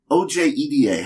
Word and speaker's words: Ojeda: like our artist, Jocelyn O-J-E-D-A. How's that pronounced? I'm sorry, what? O-J-E-D-A. The J is a Y. Ojeda? The J is a Y, like Yennefer.